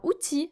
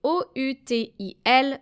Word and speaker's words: outil: Now, outil means tool. You should write it this way, O-U-T-I-L, but don't pronounce the final L.